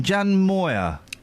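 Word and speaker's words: Moir: millionaires dear J what how do you say her name Jan moer yes stick it up your back side she done now Jan Moyer call me sexist but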